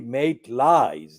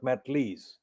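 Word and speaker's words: Maitlis: Notice how I'm pronouncing her second name, Emily Maitlies, not Matlees.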